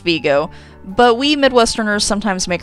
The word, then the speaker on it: Vigo: named after francis vigo who was an italian who helped the americans during the revolutionary war so it should be pronounced viggo but we midwesterners sometimes